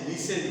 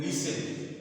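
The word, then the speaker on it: listen: ये इसको हैसन बोलेंगे और फसन बोलेंगे इसका उच्चारण नहीं होगा हैसन फसन ऐसेस हैसन फसन और जैसे लिसन होता है लिन न नहीं बोलते उसको बोलते है लिसन लिसन मतलब होता है सुनना तो यहां पर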